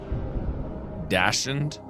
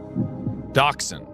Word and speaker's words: Dachshund: A I I hate to mispronounce this in front of everybody, but dashed. Dachshund.